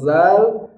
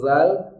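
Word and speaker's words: ذ: Siratal lazi, zi. Jangan dibaca syiddah. Contoh siratal ladzina an'amta 'alaihim. Siratal ladzi. Kenapa ladzi? Karena posisi lidahnya tidak di ujung gigi. Jadi zalnya tidak bisa ngalir.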